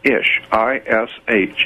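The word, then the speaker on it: אִישׁ: The word man in Hebrew is ish, I-S-H. It's pronounced ishi.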